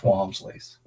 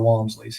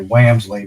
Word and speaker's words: Wamsley: And uh but uh yeah, and there's still a lot of Wamsley's here. Um most most people mispronounce it, say Whamsley, but you got it right.